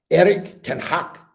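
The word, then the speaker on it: Erik ten Hag: my wife's here so i mustn't pronounce dutch names wrongly eric can hack eric is how you're supposed to say it matthew howland mr galloway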